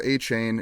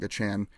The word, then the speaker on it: Achane: Devon Achane, or Davon Achane, he sent a whole big thing yesterday talking about the pronunciation, but it's no longer Achane, it's like Achane.